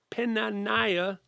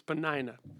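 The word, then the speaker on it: Peninnah: had two wives penan pena naya and hannah i'm never going to say her name right panina that's her name whatever i say tonight her real name is panina penina had already bore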